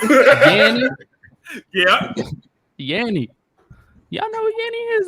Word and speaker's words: Yanni: I just didn't know it was pronounced Yanni. How else would you pronounce that? First of all, I'm from Georgia. Don't ask me those questions. How you pronounce that? It would have not been an O sound.